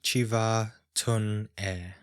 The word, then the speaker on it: Chiva Tun E: Om Chiva Tun E. So it's pronounced like this, with the vowels being what should be prolonged.